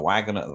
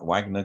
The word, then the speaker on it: Wagner: the private military contractor the Wagoner Wagner group commonly known as the musicians out of Wagner because it's spelled the same way um his guys were